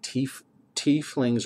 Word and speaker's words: tiefling: There are a lot of different other people, like tieflings or tieflings, however you want to pronounce it. I call it tiefling. I just always like the sound of it that way.